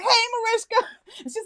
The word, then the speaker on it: Mariska: girl like we homies now i'm like hey marisha and she's like i love you you know how to pronounce my name right see i'm the type